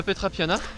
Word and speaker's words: Petra Piana: pour 5,6 km en arrivée au refuge de pétra piana enfin la trappe yann par manca se prononce et donc ça devrait se faire en